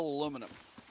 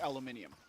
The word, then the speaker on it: aluminium: Well, US it's still aluminum. British the British saying is aluminium.